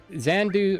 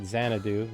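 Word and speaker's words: Xanadu: commit to it yet xandu or I probably pronouncing that game right zanadu there we go English is hard for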